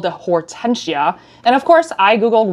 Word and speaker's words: Hortensia: so I did Google and make sure I'm pronouncing this bag's name correctly so it is called the Hortensia and of course I Googled what does Hortensia